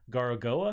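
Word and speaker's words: Gorogoa: It won a couple of awards maybe last year or the year before that, but it's called Garagoa, if I'm pronouncing that right.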